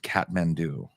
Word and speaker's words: Kathmandu: spelled look at it I know but it's pronounced Catman do catm do you never heard that used I don't think